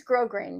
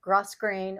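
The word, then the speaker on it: grosgrain: This is grow grain ribbon. And by the way, that's how you pronounce it. It's spelled G R O S grain. It's not gross grain or gross grain. It is grow grain.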